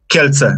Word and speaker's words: Kielce: Kielce? Kielce, exactly. Kielce, okay. You pronounce it good, yeah.